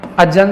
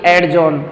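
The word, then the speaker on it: adjourn: दूसरी बात, आपने अजन सुना होगा, कोट इज अजन, अजन, इसको अजॉन बोलते हैं ना कि एडजॉन। कई बोलते हैं एडजॉन हो गई कोट, नहीं, कोट इज अजन, ठीक है ना, अजॉन। एडजॉन नहीं बोलेंगे, ठीक है ना।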